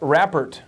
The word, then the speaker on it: rapport: Okay, we're talking about rapport. Now, here's the deal about rapport. First off, you want to know how to say it and spell it. R-A-P-P-O-R-T. Rapport, okay?